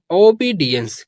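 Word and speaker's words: obedience: क्या पढ़ते हैं एंस तो ये हो जाएगा ओबीडियंस क्या पढ़ेंगे इसको ओबिडियंस।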